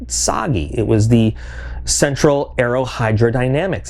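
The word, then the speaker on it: TsAGI: It's got a silent T in front of it, by the way, SAGI.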